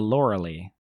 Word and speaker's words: Loreley: Yeah, that's how you pronounce that. The Loreley.